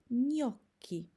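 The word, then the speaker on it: gnocchi: zajęć z wymowy dzisiaj zobaczymy jak będziemy czytać zlepek literek g i n obok siebie ten zlepek występuje w takiej bardzo popularnych włoskich słowach jak niomo oraz nioki Zobaczcie Mam nadzieję że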